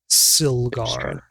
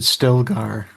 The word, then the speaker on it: Silgar: Silgar is how you pronounce that. That's the fish. Yeah, Silgar. I thought you said Stelgar.